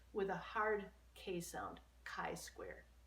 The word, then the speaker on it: chi-square: the symbol for chi-square is that and it's pronounced with a hard case ound chi-square chi-square there are actually two high score tests the